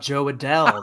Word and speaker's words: Adell: a bell let's see oh rhymes with bell how about Joe Adele there you go that